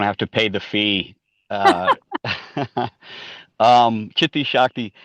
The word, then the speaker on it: Chitti Shakti: Chitti Shakti. Yes, that's the correct pronunciation.